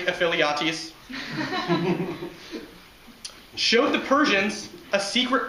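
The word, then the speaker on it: Ephialtes: It was not until a Greek traitor, he who shall not be named, Voldemort, pronounced in Greek, Aphiliates, showed the Persians a secret path which allowed them to get to the rear of the Greek forces.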